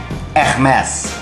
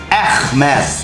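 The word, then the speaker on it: Hermès: brand na to, eh Hermes. Hermes. Hermes. Hindi H-E-R ha, dapat daw E-H-R. At hindi mo raw bibigkasin yung H tsaka R.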